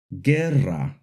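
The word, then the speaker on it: guerra: But when we want the G to make a hard G sound before an E or an I, we add a silent U after the G, like in the words, Gerra, Hugete.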